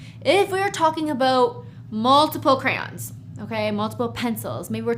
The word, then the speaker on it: crayons: As you can see, the S is, we don't pronounce it. We write it, we see it when we read it, but it's just les crayons.